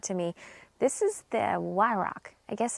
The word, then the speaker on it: Weihrauch: I've heard people, of course, across the water call it a WEIHRAUCH. The W's a V, but the W's a W to me, so I'm going to say WEIHRAUCH.